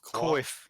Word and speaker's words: Coif: How do you pronounce that? Coif? Coif.